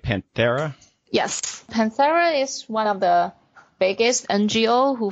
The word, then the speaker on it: Panthera: the organization Panthera I think that am i pronouncing it right Panthera yes the biggest NGO who focus on the